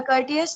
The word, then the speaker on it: Curtius: क्या प्रोनाउंसिएशन है सर इसका? कॉर्टियस, द कर्टियस। कर्टियस, जी, the Curtius rearrangement or a Curtius reaction or a Curtius